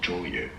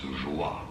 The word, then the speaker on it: Joyeux: Okay, but it's not joyeux, it's joie, okay? Joie, you. The H is silent. Okay, I've been saying it very wrong.